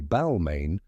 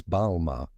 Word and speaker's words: Balmain: Kardashian many people say Balmain pronouncing the N but in French the N is silent so it's balar now the next time